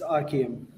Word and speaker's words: Arm: It's Arm. Archium. Okay. Very hard to pronounce by the way.